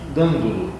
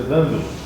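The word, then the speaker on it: Dandolo: Nele fala a respeito do Duque Dandulo. Acredito que seja Dandulo, pela pronúncia proparoxítona do italiano.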